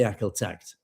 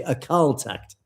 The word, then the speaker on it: Akal Takht: Sahib Ji established the Akal Takht, sorry, I'm mispronounced this, apologies to Amrik, who kindly corrected my pronunciation, the Akal Takht.